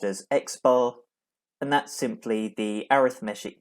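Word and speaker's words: x̄: After that, you have what's pronounced as x bar, and that's simply the arithmetic mean of a sample.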